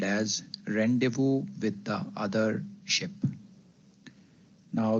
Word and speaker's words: rendezvous: The word is pronounced as rendevu.